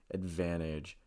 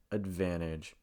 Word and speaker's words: advantage: letter n you see this in words like advantage advantage there's nothing wrong with saying advantage but something you may hear many native speakers